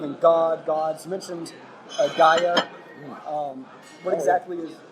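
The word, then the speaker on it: Gaea: into the Roman language, so we get Gaia, which is G-A-E-A, and it's misspelled by almost everybody today as G-A-I-A, but that was a transliteration from hearing the pronunciation of it as Gaia and writing it down that way.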